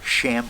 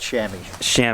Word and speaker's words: chamois: And When you're done, can I borrow your sham cloth? what do you call them? You said it right, chamois.